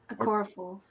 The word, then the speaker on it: Okorafor: So it's how it's how it looks. Is how you say it.